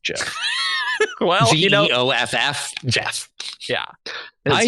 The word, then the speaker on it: Geoff: I hate the fact that this is pronounced Jeff.